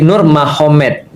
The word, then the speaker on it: Nurmagomedov: Tapi bacanya bukan Habib Nurmagomedov. Nur Muhammad kan seperti itu. Kalau kita tahu artinya ma, berarti di sana Muhammad jadi Mahomet. Jadi tulisannya Magomed. Tapi bacanya Mahomet. Kan gitu kan ya. Jadi Nurmagomedov itu jadi Nur Mahomet.